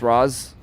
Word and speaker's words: Ros: So, it's spelled Raz or pronounced Raz. All right. I feel like y'all made that up, but I'm going to go with it. Is it Does it It's Ros, not Rose. Okay. Pronounced Raz.